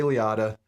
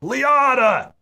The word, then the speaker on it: Liotta: To which he turns around and yells, Liotta! Oh. I pronounced his name wrong. Because I've always said that's Liotta. My only conversation with Ray Liotta. Liotta. Pronouncing his name. Oh, there you go. Well, he corrected me. Okay. That's why I pronounce it the way I do, because he corrected me.